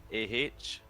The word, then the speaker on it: AH: Although if you want to be like completely honest, the second team AH should be pronounced Ah, because of the weird meme they're carrying.